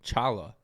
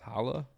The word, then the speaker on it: challah: date no wait oh they spelled with a ch chala but it's pronounced holla i'm confused i don't